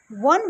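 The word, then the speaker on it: one: एक vowel letter है, लेकिन जब हम वन को प्रोनाउंस करते हैं तो इसका साउंड व आता है जो एक कंसोनेंट साउंड है।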